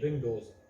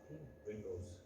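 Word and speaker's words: Windows: Microsoft users, तो MS विंडोज जो है ना सबसे ज़्यादा मशहूर है। और हमेशा याद रखें इसको कभी भी आप विंडो प्रोनाउंस नहीं करेंगे, ये विंडोज, विंडोज ये ऑपरेटिंग सिस्टम का नाम है, विंडोज इसमें ऐसे इंपॉर्टेंट है, ठीक है।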